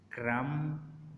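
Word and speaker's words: crumb: बी इज़ not pronounced when following M एट द एंड ऑफ the word. अगर बी के बाद एम आ रहा है, यानी कि एम से एम आ रहा है और उसके बाद बी आ रहा है, तो बी साइलेंट हो जाएगा।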